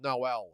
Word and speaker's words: Noel: Theo says, "Uh, Null Melanian, pronounced like the Christmas carol." Noel. Okay. Noel Malian, we'll call him Noel.